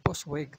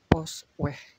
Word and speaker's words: Postweg: more posts by tetapi dibacanya kan bukan postweg tapi pos weh kan begitu on the